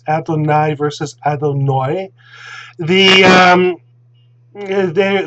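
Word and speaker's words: אֲדֹנַי: with a patak and it's pronounced adonai whether it's ashkenaz or safari because the patak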